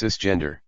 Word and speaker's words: cisgender: they were assigned at Birth is cisgender pronounced cisgender some people have a